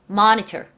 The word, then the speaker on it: monitor: 모니카. 모니카. 이것도 monitor. monitor. 헤이, hey, 모니카! 이렇게 얘기를 해요. 헤이, hey, monitor. 헤이, hey, 모니카. 뭐! 에서 살려주셔야 돼요. 오케이? 그래야 조금 이제, 그건 이제 미국스러운 발음이에요. 굉장히.